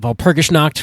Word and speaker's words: Walpurgisnacht: We'll talk about Walpurgisnacht, which is the German pronunciation of Walpurgisnight, and we'll get into all that.